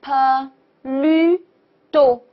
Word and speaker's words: plutôt: 好，第一个呢叫做 do，第二个呢叫做 plutôt，对不对？这个是 u 的发音，plutôt，plutôt，plutôt。OK，très bien，好，